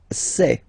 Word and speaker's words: sais: Je sais. Okay, final S not pronounced, and then you get this A-I, E.